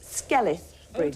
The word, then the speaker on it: Skelwith Bridge: there just west of Ambleside, and it's actually pronounced Skelwith Bridge.